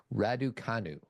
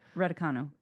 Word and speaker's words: Raducanu: I can't pronounce her last name. I'm sorry. Raducanu. Okay. Raducanu.